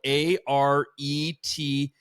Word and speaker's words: Areté: It's spelled Arete and E with like a hyphen over the top. Is it like karate, arete?